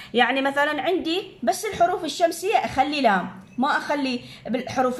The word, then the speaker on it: الشمس: هذا حروف شمسيه، نخلي شده عالشين بحيث اللام ما لفظت، صارت حر الشمس، الشمس شديد.